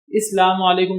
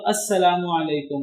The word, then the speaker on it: السلام علیکم: علیکم، بالکل غلط ہے۔ اسلام علیکم کا مطلب تو بنتا ہی نہیں ہے، اسلام اور تم پر وہاں معنی اسلام بنتا ہے، السلام تو بنتا ہی نہیں ہے۔ اصل تو جو اس کا ہے تلفظ وہ تو السلام علیکم ہے، تو انگلش میں اگر لکھیں گے تو AS پھر SALAM، تو یہ لکھنے کی بجائے اسلام کہہ دیتے ہیں۔ بھئی یا تو